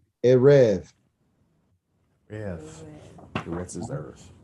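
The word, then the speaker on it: ערב: Ritz. Very good. Very close. It's Erev.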